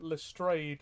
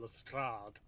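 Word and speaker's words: Lestrade: reading the book uh Steven fry pronounces it lustray which sounds wrong to me yeah we got calls him lrad yeah whichever one you prefer is valid it's uh yeah um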